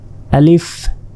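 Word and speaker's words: ألف: এটা আলিফ আলিফ আর আলিফে কোন টান নেই এটা দ্রুত বলতে হবে আলিফ এখানে দেখুন ক্রস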